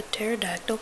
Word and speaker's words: pterodactyl: can't you hear a pterodactyl mean she's texting me and I go because the p is silent and and she's like